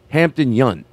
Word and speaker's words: Hampton Yount: It's Hampton Yount.